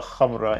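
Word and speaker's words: Khamrah: guys and at number 12 we got LFA kamra oh hell yes it's pronounced LFA KRA in Arabic which means liquor and it's meant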